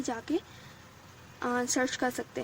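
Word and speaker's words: Jaques: अगर आपको जो है प्रोनाउंसिएशन समझ में नहीं आती तो आप गूगल पे जाके सर्च कर सकते हैं। इसको हम जैक्यूज नहीं पढ़ेंगे, इसको हम जैक पढ़ेंगे।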